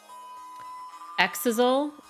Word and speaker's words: Exisal: and watch that um cuz it's exzel is the V VA pronunciation thank you I'm still